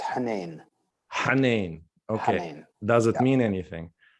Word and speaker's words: Henein: language uh what is the arab way of pronouncing hennan is it the same no it's hanen okay does it mean anything it means so